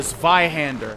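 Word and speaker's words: Zweihander: The Vihander. I think I'm pronouncing that correctly in the German pronunciation.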